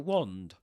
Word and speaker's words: wand: Press the cross button to cast a Flipendo knockback jinx from your wand. Wand, wand like I don't know, stop. Wand. With that o sound.